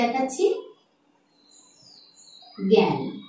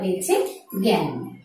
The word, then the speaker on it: জ্ঞান: আমি উচ্চারণটি ভেঙে দেখাচ্ছি, জ্ঞান। ইও নাসিক্য ব্যঞ্জন বলে এখানে একটি আমার চন্দ্রবিন্দু ব্যবহার হয়েছে, জ্ঞান।